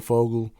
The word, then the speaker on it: Fogel: Fogel.